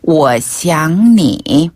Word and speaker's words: 我想你: 여기서 주의하실 점은요. 네. 한국어에 그 쌍시옷 발음이 들어가는 것처럼 하면 욕으로 욕처럼 잘못 들릴 수도 있겠네요. 잘못 느끼실 수도 있으니까.